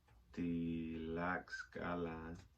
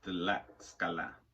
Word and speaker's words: Tlaxcala: Tlaxcala pronunciation.